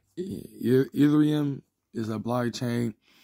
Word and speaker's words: Ethereum: books ethereum I know I know I'm pronouncing it wrong but I heard it worked so many times I'm trying to say it right ethereum is a blockchain like